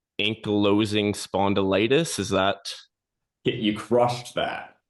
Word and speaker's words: ankylosing spondylitis: I'll try not to mispronounce ankylosing spondylitis.